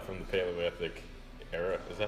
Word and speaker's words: Paleolithic: called paleo cuz cman diet it's from the Paleolithic era is that how you say it yeah Paleolithic yep okay yeah um I can't even say